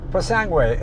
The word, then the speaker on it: Purosangue: Purosangue.